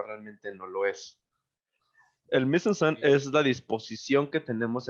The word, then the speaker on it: mise en scène: Es un término francés, se escribe M-I-S-E, Pero lo guión, tienes que decir con voz de croissant. ahí voy, es M-I-S-E-N-S-C-E-N-E, mise en scène, que si lo queremos